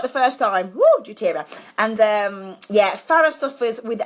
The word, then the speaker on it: doTERRA: Woo, doTERRA.